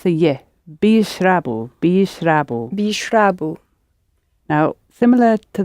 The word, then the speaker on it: بيشربوا: Pronounce the ye. Bishrabu.